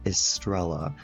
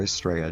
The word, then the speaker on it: Estrella: And then meet her roommate, Luna Estrella, or Estrella, depending on how you want to pronounce it.